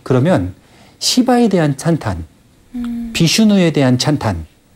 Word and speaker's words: 시바: 하는 신이 있고 크리슈나 쉬바나가 아니라 시바 발음을 잘해야겠네.